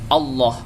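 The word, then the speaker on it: الله: fathah atau dhomah dibaca tarqiq apabila lafaz Allah didahului oleh harokat kasrah ya jadi apa namanya harokat sebelum lafal Allah ini menentukan bacaan menentukan status hukumnya Kalau fathah dan tentumah maka dihukumi tafkhim jadi membacanya masih berupa tebal Allah Rasulullah tapi kalau didahului oleh harokat kasrah maka membacanya harus tipis rasullilah demikian semoga bermanfaat dan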